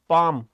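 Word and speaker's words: palm: फिर लिखना है पाम यह पाल्म नहीं होता यह क्या होता है पाम मतलब इसका एल साइलेंट होता है सही है अरविन हेलो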